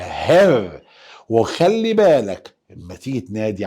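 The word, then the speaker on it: Herr: اوعى تغلط وتقول يهير، أزعل منك. ده حرف الها وبعديه ايه وبعديه دبل ار، يبقى قول معايا هر.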